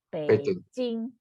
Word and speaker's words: Beijing: Tapi kalau sekarang sudah distandarkan, mereka tulisnya adalah Beijing, tapi bunyinya kalau orang kita seharusnya sekarang kita setelah pelajaran ini kita bacanya jadi Beijing.